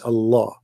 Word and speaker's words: Allah: It's just you have to say the L twice. Allah, you know, Al-Rahman, Al-Rahman.